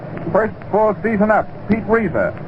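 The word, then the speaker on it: Reiser: full season up Pete Reza that name is re s r Reza in seta DOL Cil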